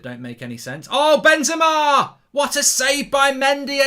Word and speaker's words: Benzema: It's the Bendit. It's the Bendy. I'll be sacked. You're sacked. You've got his name wrong. It's the Benzema versus Mendy show.